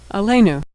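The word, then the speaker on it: עלינו: Ain comets lmed s with the yud nun and shurik a le new alenu.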